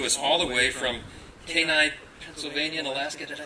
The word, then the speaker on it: Kenai: she comes to us all the way from Kenai, Pennsylvania, and Alaska. Did I say it right? Kenai? Okay, Kenai, right?